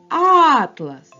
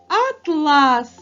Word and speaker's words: атлас: тепер його покличемо атлас наголос падає на перший звук а він є наголошеним атлас А якщо ми переставимо наголос на другий звук а то в нас вийде атлас гарна м'яка тканина атлас атлас